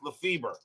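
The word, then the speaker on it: Lefebvre: double in the game there is one player that used to be known as Lefay and one pronounced Lefever I don't remember which one it is but I know I actually do I do believe that Joe laf fber is the the guy has pronounced LEF feber I know there is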